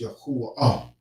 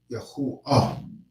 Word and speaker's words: Yahuwah: So where did they get Yahuwah from? Unless they're calling this. They get Yahuwah because some people don't pronounce this with this right here with the wah sound. They pronounce it with the Yah, Ha. But they put the U here. This sound right here is the U sound, the sound. So it's Yahuwah, Yahuwah, which is really, proper because